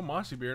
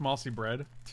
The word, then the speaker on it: Mossy Bread: keep this hand oh mossy beard i haven't seen monster beer in a minute in one minute let me get them out here every day it's pronounced mossy bread stupid i'm sorry mossy bread millions of families